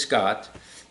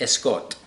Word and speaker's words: Scott: My name is Scott. For Spanish speakers, I was Escot. So it's just a Spanish pronunciation of Scott.